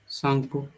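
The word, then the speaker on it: Tsangpo: इसका नाम था यारलंग सांगपो यारलंग शपो सेंगपो का स्पेलिंग टी से स्टार्ट होगा।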